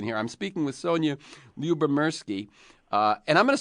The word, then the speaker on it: Lyubomirsky: I'm speaking with Sonia Lubberki. Uh, and I'm going to spell it once just for those of you who want to go Google her.